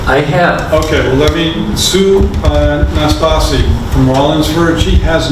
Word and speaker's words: Nastasi: This is Sue Nastasi, Nastasi. And thank you for pronouncing it so correctly.